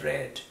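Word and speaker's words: read: First and first participle would be রেড অ্যান্ড the present form is রিড।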